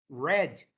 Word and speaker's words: read: I would you think that a pronúncia disso aqui, ó, tanto da V2 quanto do V3 do passado, você pronuncia como se fosse vermelho, red. read.